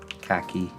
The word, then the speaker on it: khaki: Khaki. Paste that there. Poof. Is it a coincidence that khaki rhymes with tacky?